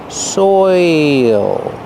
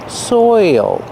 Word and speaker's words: soil: soil soil it's soil your mouth has to open a little bit to make the dark L and there's an extra sound listen soil soil like oil soil soil is very